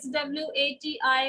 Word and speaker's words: Swati: And even in writing, you know, I've seen in Karnataka and all, I write SWATI, my name. But whenever they write TI, they always write THI. Though they pronounce it Swati only.